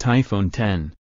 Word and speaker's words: iPhone X: they compare iPhone next the iPhone X pronounced iPhone 10 is Apple's most distinctive